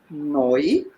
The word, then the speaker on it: neu: This is pronounced neu.